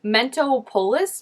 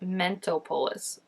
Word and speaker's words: Mentopolis: want to say it do not say Mentos Mento polis mentopolis right I feel like it's supposed to be like Metropolis but mentopolis mentopolis mentopolis okay that